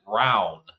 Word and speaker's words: Rowan: It's spelled like your name, but in Kentucky, my county. We pronounce it round.